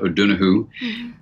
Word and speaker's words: O'Donoghue: a dear friend and colleague of mine John O'Donoghue which in Ireland you pronounced John o donahoo and he had been a wonderful wonderful wonderful